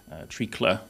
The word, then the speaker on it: treacle: something quite different but in early modern english tricla as it would have been pronounced it actually means a